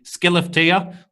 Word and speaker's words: Skellefteå: Just to understand the geography of Sweden, he's from, I believe it's pronounced exactly, Skellefteå.